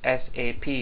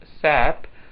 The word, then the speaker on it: SAP: and products in data processing sap should be pronounced as sap not sap sap company or known as sap AG was